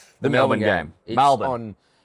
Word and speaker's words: Melbourne: M A L. The A is optional. Yeah. Um yes. No Rs. Certainly no Rs.